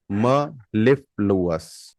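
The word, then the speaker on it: mellifluous: appalam means confidence the next word is मेली म लिफ लुस मलिल अस मलफ लुस the spelling is एम E double L आई एफ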